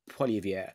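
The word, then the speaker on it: Poilievre: next general election and be replaced by Pierre poier that's how you pronounce it he seems a lot better and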